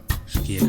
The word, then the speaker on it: Shakia: No, you said it right. It's Shakia. Is it? Yes. All right. Okay. I was sure it was Shakai, but no, it's Shakia.